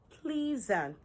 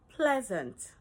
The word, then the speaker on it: pleasant: Do you say pleas-ant? Mhm. This is pleasant.